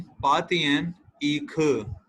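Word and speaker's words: 八点一刻: 8:15 पातियन ईख 9:30 च्योतियन अर्ख च्योतियन का मतलब 9 अर्ख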